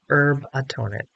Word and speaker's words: Herbatonin: And it's spelled like it sounds, herbatonin, herb and then atonin.